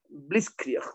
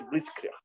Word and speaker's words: Blitzkrieg: No sé ni siquiera pronunciarlo. Blitzkrieg, debe ser algo así, Blitzkrieg.